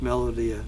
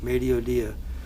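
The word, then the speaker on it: mediodía: and mediodia de francia i mispronounced that as melodia mediodia that means midday in france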